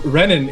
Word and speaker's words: Renan: actually generally when when renan is is actually I've always thought from other depending on I guess which which country you're from and stuff it'll actually be pronounced henen R will be silent yeah the only one